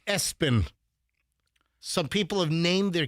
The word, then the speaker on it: ESPN: Number three, ESPN pronounced Espen.